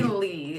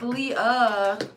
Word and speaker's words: Leah: He called me Lee the first time when I had my 22, he said, Lee! And I'm like, How do you get Lee and there's an A-H at the end? It's Leah.